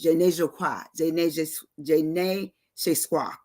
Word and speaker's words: je ne sais quoi: It says je ne sais quoi, je ne sais quoi. I'm trying to get it right. Je ne sais quoi. That's how it's said in French, which means it's impossible to define.